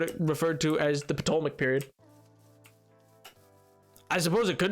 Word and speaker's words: Ptolemaic: the Ptolemaic period, but I've always heard it with the P pronounced, so I don't know. I think the P silent. It very well could be. It very well could be. Worst word if it is. I like using the P.